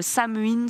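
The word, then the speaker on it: Samhain: Donc c'est une sorte de nouvel an et on appelle ça le Sam, le Samuin selon prononciation.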